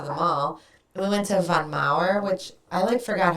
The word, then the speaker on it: Von Maur: We went to Von Maur, which I forgot how great. Von Maur. Von Maur, is that how you say it? We say Von Maur.